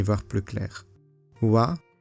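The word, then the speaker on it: は: Wa, qui s'écrit ha mais qui se prononce wa, est la particule du thème.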